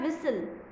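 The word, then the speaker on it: whistle: फिर है विसल, विसल, विसल के अंदर भी टी साइलेंट है और डब्ल्यू भी साइलेंट है ना।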